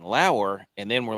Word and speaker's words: Lower: And then turned out that was the wrong pronunciation. It's Lauer.